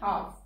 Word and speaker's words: half: Next is L. Palm, come. L hai, par sound nahi dete. Ki bolenge? Palm, come. Chalk, talk, walk. Fork, yoke, and half. In all these words, the L is silent.